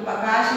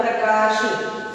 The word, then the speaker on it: प्रकाश: इसी तरह से प्रकाश, ये प्रकाश नहीं है प्रकाश है, अंदर ध्वनि से जब हम बोल रहे हैं ना, तो आगे इसका हमको पता नहीं चल रहा है, अंदर इसका उच्चारण हो रहा है प्रकाश, तो हम यहाँ पे